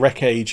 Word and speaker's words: Wreck Age: But just to start off with, this is one of the Wreck Age minis, and Wreck Age is spelt wreckage but with a dash, and it's a post-apocalyptic